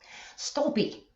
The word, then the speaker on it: Stolpe: How do you pronounce your last name, by the way? Stolpe.